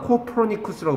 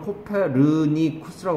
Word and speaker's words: 코퍼니쿠스: 그러나 코퍼니쿠스라고 발음합니다. 영어에서. 이 나라 사람 이 사람을 코페르니쿠스라고 발음하고 영어에서는 코퍼니쿠스라고 발음합니다. 코퍼니쿠스가 study the stars and